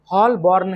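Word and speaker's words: Holborn: देखिए उदाहरण के तौर पर स्कॉटलैंड के केथनेस में उदाहरण स्कॉटलैंड के केथनेस में हॉल बोर्न head हॉल बोर्न head H ओ एल बी ओ आर एन हॉल बोर्न हॉल बोर्न are silent होता है।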